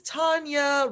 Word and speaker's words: Tonia: My name is Tonia, rhymes with lasagna, and today we are talking about the difference between fate and free will in astrology.